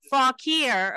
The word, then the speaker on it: Fauquier: You know, so when people ask you where you're from, you can tell them Fauquier.